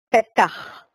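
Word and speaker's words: פתח: También mencionaba la palabra puerta, pero la pronunciación no escuché si era Petach o Petach. Petach.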